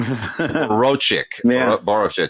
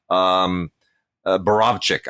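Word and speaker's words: Borowczyk: Borochik, the famous exploitation director. Borovchik, I guess is the correct pronunciation.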